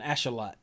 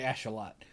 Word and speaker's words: axolotl: How do you say that? An Ashalot. It's a big legendary Ashalot. This apparently is how you say axolotl, which I didn't know that.